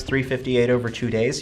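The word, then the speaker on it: 358/2 Days: supposed to be but the way you actually pronounce it is over two days I'm like it's not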